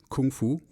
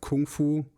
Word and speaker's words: kung fu: I was interested in kung fu technically would be pronounced Gung Fu but that's a side